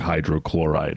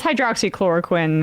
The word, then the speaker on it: hydroxychloroquine: pronounce it when he said like hydrochloride or something. I mean, it's hydroxychloroquine, and to be fair to him, Sam didn't get it either, so.